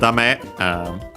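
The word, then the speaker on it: 駄目: Then we have dame, another of those expressions, those negative expressions, an accent on the last syllable, this one.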